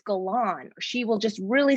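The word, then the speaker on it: Galan: correctly she will say it's not gallon it's galon or she will just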